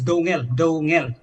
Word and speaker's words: Dongel: Dongal respond to it. Just a personal request. How do you pronounce the name, Dongal or Downjal, as Mr. Ramananda was saying? It's Dongel. Dongyal. So, okay.